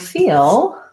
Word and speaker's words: feel: so in the word feel I'm using a dark L it's kind of like feel but in the word feeling it's more like feeling and the Ling is a light L because it starts the